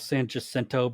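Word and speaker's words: San Jacinto: it the Battle of San jento because that's what every English speaker knows it as but I still don't like it but anyways but yeah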